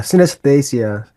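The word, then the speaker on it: synesthesia: Um, fusing sound and color through what you call synththesia. Did I pronounce that correctly? Yeah, synthesia.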